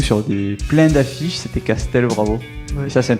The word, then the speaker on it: Castel: Personne ne l'écrit ou ne le prononce correctement encore. C'està-dire c'est Castel. Bravo pour le français. C'est Castel. Bravo. C A S T E L.